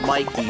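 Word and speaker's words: Mikie: The game was called Mikey, by the way, but it's spelled weird.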